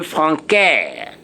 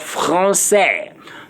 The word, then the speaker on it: français: make it the C-C-D, meaning you are saying franquais. Please, we are talking about franquais, we are talking about français.